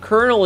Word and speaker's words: colonel: Colonel is spelled C O L O N E L, not Colonel like a like a a popcorn kernel.